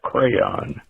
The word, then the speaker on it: crayon: privilege in christina's defense the word is pronounced crayon just like proton tampon or neon what's up jack yes